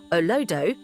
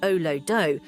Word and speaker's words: Olodo: In Nigerian slang, Olodo, pronounced oh-loh-doh, refers to someone who is considered dull, unintelligent, or clueless, particularly in academics.